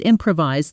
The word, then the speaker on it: improvise: When the projector broke, she just improvised the whole presentation. Fast. Same sentence. Try it. Notice the stress falls on the second syllable, improvise.